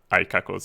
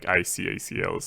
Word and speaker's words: icacls: I'm pretty sure you don't pronounce it iCackles. You probably pronounce it like ICACLs or inherited ACLs.